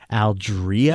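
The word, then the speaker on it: Aldrea: the hork Padilla Chronicles her name is pronounced Algeria yeah yeah that was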